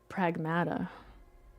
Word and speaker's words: Pragmata: Pragmatada.